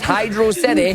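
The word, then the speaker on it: Hydrocity: It's hydro city. Hydroity is not a word.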